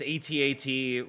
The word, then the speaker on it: AT-AT: You have this AT-AT Walker, or I don't like saying it. Mike, how do you say this? It's properly pronounced at. I don't like it.